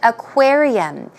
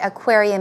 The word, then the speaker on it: aquarium: Now, the reason I chose the word aquarium is because often in Korean pronunciation, I hear aquarium, aquarium, okay? It's very similar syllable-wise, but pronunciation is very different. It's not aqua, it's aquarium.